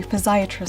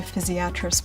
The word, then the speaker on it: physiatrist: even pronounce what every physiatrist sorry physiatrist but it's the fizz part that matters and what that means